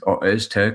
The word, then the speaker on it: Öztürk: And although Monday was disappointing, Öztürk, the correct pronunciation, and Jimmy Dunn have been relatively faultless.